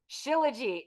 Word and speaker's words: Shilajit: I have to see what the actual pronunciation is. Shilajit.